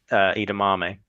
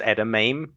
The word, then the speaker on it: edamame: Um I remember a certain player um mispronouncing Edamame. So yeah, it's it's never going to be as good as that. I think it was Edame.